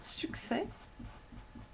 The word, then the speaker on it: succès: We can think of most words that normally end in S, such as accès or succès. The S is not pronounced.